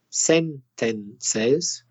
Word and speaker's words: sentences: sentence to sentence and they forget that if it's plural you need to add an extra syllable a sentence sentence sentence that's two syllables but two sentences sentences that's three syllables and the reason that